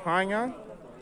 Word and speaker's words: Chania: And the city is called Chania, spelled C-H-A-N-I-A, C-H-A-N-I-A, Chania. Just like China, but it's pronounced Chania.